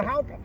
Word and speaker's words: Hauka: Hold up your hand, you go hauka. It's kind of like Hauka. howdy, isn't it?